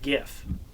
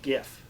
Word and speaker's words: GIF: i've always said that gif that gif it's a g like a good go yeah like a good ghost yeah if he wanted